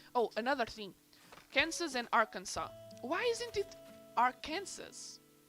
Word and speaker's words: Arkansas: with me i also didn't know it was arkansas i always thought it was our arkansas or something like that also why do you